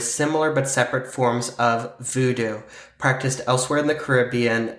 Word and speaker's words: Vodou: other Voodoo okay so even though it's pronounced the same it does have a different spelling and all these different